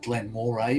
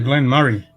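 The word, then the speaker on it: Glen Moray: interesting but that um you called it glenn moray but no glenn murray cancer even even the bot even the bot pronounced it correctly i hate uh yeah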